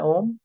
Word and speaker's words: ओम: जाप भी कहते हैं, तीन प्रकार की ध्वनि से मिलके बना हुआ है। आ, उ, म। कितनी ध्वनि से मिलके बना है ओम? आ, उ, म। तो इसके तीन प्रोनाउंसिएशन होते हैं, तीन पार्ट होते हैं। एक होता है आ, दूसरा होता है ऊ।